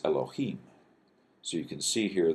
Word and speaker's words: Elohim: and this is El now notice you got L and then this is a kind of a long o sound and then H at the end so eloh and the plural form of this is Elohim so you can see